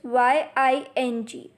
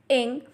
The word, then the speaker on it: ying: and not ying the next finion is y i n g has a pronunciation of ink repeat after me ink and not ying then next vineyard is